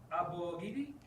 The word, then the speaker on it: Abogidi: Yes, you gotta put on 4 syllables. Abogidi. Abogidi. Yeah, I I think the problem you guys try to go like 2 or 3 syllables. You got to make like really expand it a little bit.